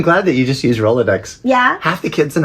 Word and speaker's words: Rolodex: that you just use Rolodex yeah half the kids in our show bye-bye birdie three syllables yeah we roll low decks uh oh decks yes